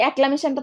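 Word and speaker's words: acclamation: অ্যাক্লামেশন 3 ভাগে ভাগ করো বা 4 ভাগে ভাগ করতে পারো। এসি এক, এক, তারপরে ক্লা, তারপরে মে শন বা মেশন একসাথে উচ্চারণ করতে পারো। এক ক্লা মেশন বা একলা মেশন।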